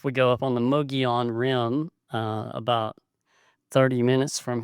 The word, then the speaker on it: Mogollon: But it is spelled Mogollon, but because it's a Spanish name, the two L's make a Y sound, Mogollon, but there's no I in it, so we just call it Mogollon Rim.